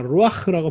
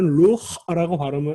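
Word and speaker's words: רוח: 자, 루아흐라고 발음합니다. 원래는 루흐라고 이름절로 발음해야 되는데 후음이 받침으로 오면 발음이 어려우니까 아를 살짝 첨가해 주는 거예요.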